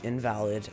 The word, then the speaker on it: INVLD: well I I'm introducing this thing called invalid um it's spelled I in vld um and basically it's